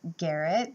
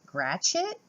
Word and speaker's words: Gratiot: was shipped to Fort and I was saying Garret like that's how I would pronounce it but in the states they pronounce it Gretch it Fort Gratiot Michigan where I picked it up and let